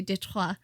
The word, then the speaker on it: Detroit: He kind of led this charge against Fort Detroit, or back then it would have been pronounced in the French way, Detroit.